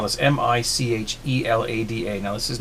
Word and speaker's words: michelada: It's, you know, Michelada, as I think that's how it's pronounced.